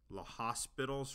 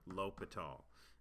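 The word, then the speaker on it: L'Hôpital: this is called l'hopital's rule and some people pronounce this l'hospital's rule just because that's kind of what it phonetically looks like but the privet the correct pronunciation of the word would be lopat all so let's talk about this rule and so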